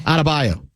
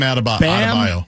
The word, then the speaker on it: Adebayo: Adebayo. Bam Adebayo.